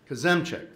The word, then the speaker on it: Kozemczak: tell me if i get this wrong jason kosumchak kazemcek thank you former technical lead for twitter and